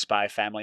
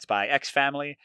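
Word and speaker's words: Spy × Family: Apparently, you don't pronounce the X in the middle, so it's just Spy Family, not Spy X Family.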